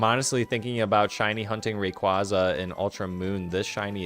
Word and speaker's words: Rayquaza: Rayquaza. Uh, why' I say it like that? Rayquaza.